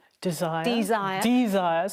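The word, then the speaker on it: Dzire: Desire. Desire. Desire is spelled d z i r e.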